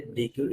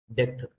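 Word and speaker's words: deque: It's not the DQ it pro the deck.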